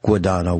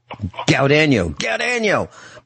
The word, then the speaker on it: Guadano: And in freshman homeroom, our brother at the Catholic school used to mispronounce his name, not Guadano, which is what it is. Gaudano, and he'd yell at him.